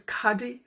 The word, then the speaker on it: khadi: on the right was Cuddy I think it's pronounced Cuddy's KH Adi which is a hand-woven